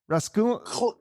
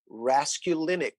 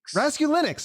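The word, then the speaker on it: Raskulinecz: name right rask rascal rascalis close so bad brother it's really easy rescue linux rescue linux i don't i don't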